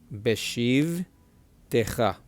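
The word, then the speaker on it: בשבתך: The first one is silent. The second one has a short sound. Not a she, a short sound. Okay, this word is pronounced be because this shiva is said beshiv, silent shiv, not beshive, but beshiv, and then short e sound techa, beshiv techa, beshiv techa.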